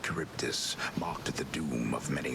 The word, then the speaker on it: Charybdis: I was wondering how you pronounced its name. Charybdis.